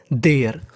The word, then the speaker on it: there: देयर, और आपको बता दूं देयर के आखिरी में है ई का हम लोग प्रोनाउंसिएशन यानी उच्चारण नहीं करते, यानी देरे नहीं होगा, हम लोग इसे पढ़ेंगे देयर।